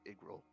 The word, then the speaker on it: Yggrail: It's pronounced like a bad eye, so it's like Igril.